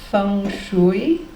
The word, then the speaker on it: feng shui: Folk tales, such as the one I mentioned earlier, personal horoscopes, as I said earlier, feng shui.